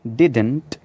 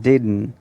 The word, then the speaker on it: didn't: आपने इसको प्रोनाउंस करना है डिडन, डिडन। आप टी भी बोल सकते हैं एंड में, like डिडंट, but most of the